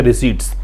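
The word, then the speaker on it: receipts: To which the import bill exceeds export रिसीट्स, इसको रिसीट पढ़ते हैं, पी का उच्चारण इसमें नहीं होता है। ठीक है, रिसीट्स।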